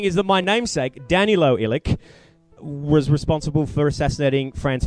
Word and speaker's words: Ilic: I say Ilic. The proper way to say it is Ilic.